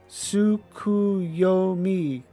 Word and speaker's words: Tsukuyomi: It is pronounced Tsukuyomi, correct?